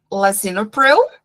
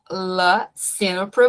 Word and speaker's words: lisinopril: Então, a gente tem ali lisinopril, vocês podem ouvir essa pronúncia também como lisinopril, mas e Ly também, tá? Lisinopril. Vocês escolhem. Eu prefiro falar lisinopril.